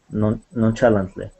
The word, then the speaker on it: nonchalantly: This ch is going to sound like an sh.